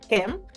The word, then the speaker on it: Nkem: So my name is Nkem, but I go by Nkem. The N is silent.